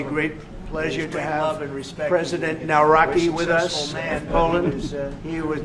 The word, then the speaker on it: Nawrocki: Gave me a little different pronunciation. I said, I want to get it perfect. Did I get it right? Yeah, good, good. Nawrocki. I better get it.